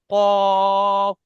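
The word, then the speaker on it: قُ: উচ্চারণ করবার সময় ঠোঁট দুটি গোল আকৃতি হবে, কফ। একদম ঠোঁট দুটি গোল হবে।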